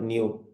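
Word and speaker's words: ν: is that actually so that is not a V new you pronounce as a what new okay new means frequency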